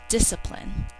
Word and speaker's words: discipline: to spell it so while we only hear 1s in the beginning discipline we hear both for spelling and even though SC